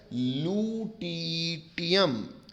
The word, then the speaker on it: lutetium: बात कर रहा हूँ, उसका नाम होता है लूटीटियम, LUTETIUM, स्पेलिंग ठीक लिखी है बच्चे ने, LUTETIUM।